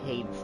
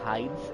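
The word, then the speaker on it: Heide: i just don't know so he pronounced it hades tower i'd actually pronounce it hides and it's the opposite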